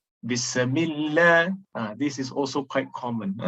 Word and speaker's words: Bismillah: Then, in excess of the sifatu sin, as though there is qalqalah in sin. Bismillah.